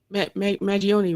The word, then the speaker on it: Mangione: Kim made sure to say rest in peace and power to Malcolm Jamal Warner and Chuck Mangione, right?